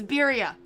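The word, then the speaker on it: birria: you pronounce the word biria correctly just it's birya it's fine you don't you don't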